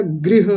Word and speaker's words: गृह: गृह मंत्री बोलते हैं तो गृह नहीं होता गृह होता है। गृह रिकार बोलिए।